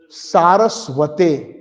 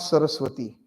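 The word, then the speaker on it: सरस्वते: Bhakti Vedanta Swaminiti Namine Namaste Saraswate. It's not Saraswati.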